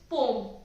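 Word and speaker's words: poem: सो ये जो पोयम है, ये पोयम है ही नहीं, इट्स पोम, राइट।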